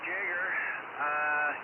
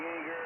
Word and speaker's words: Jagger: First name is Jagger. Yeah, like, people call me Jagger and Jaeger and everything else, but Jagger is the official, pronunciation.